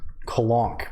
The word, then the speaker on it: Colonq: the character is LL four capital L's colonk pronounced because it's funny right because the Channel's called L colon q and the character is